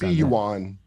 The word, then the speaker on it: yuan: uh juan juan saint juan i think it's juan yeah juan and not u.s dollars see what the pronunciation is yuan uh and not us